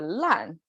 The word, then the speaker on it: 烂: together with the fire on the side and pronounced as a lan that means colorful um so it's almost like